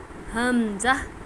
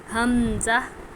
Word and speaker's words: حمزہ: ہ کا تلفظ کس طرح کریں گے؟ حمزہ حمزہ. جھٹکا نہیں دینا، بس ایسے ہی ادا کرنا ہے، حمزہ.